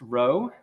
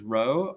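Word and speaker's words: rho: see what they mean this Greek letter right here is pronounced row uh and this quantity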